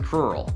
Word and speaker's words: crural: he probably lives in a rural area, which rhymes with crural.